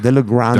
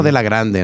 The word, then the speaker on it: de la Grande: But you have to say it like that, de la Grande. De la Grande. Grande. No, de la Grande.